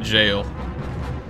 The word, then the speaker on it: gaol: don't know it was it was gaol they pronounced it jail was like maybe maybe a questionable choice of pronunciation I know G can